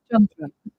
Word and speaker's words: Chandra: Like my name should be pronounced Chandra. There's nobody can do it. I can't even do it. My family calls me Chandra. It's just totally different.